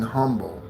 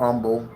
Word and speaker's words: humble: This also speaks to being humble. Okay? or umble. Okay, some people do not pronounce the H, right?